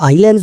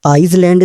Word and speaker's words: islands: असल में जो आइलैंड्स होते हैं ना यह आइसलैंड नहीं होता। यह आइलैंड्स होते हैं। और इसमें जो एस होता है ना यह साइलेंट होता है। इसलिए हम इसको आइलैंड्स बोलते हैं।